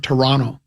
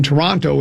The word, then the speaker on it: Toronto: And he said uh if you are from Toronto, they don't say Toronto. You know what they say? Toronto. They drop the other T.